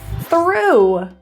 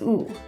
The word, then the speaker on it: through: Through, OUGH, ooh. It's pronounced as ooh.